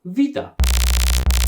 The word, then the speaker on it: beta: by a different letter we call it beta but it is pronounced vita sorry i got distracted